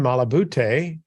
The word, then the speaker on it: Malabute: with us today, and his name is Malabute. I hope I pronounced your last name correctly.